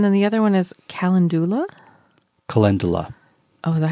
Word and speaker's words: calendula: And then the other one is calendula?